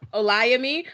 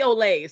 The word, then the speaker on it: Olayemi: But it's Olayemi, but you can call me Olay.